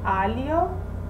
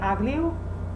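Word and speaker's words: aglio: right if you say allio they still understand you if you say ugly they won't understand you so that's important another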